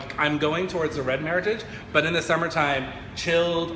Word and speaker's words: Meritage: So Meritage, the word itself is a blend of merit and age and rhymes with heritage. So this particular blend is our 2012 Meritage from Time Estate Winery.